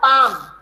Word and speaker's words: palm: में बोलते हैं बेटा पाम, PALM, पाम। पाम में L साइलेंट रहता है, पाम, पालम नहीं बोलेंगे, L साइलेंट।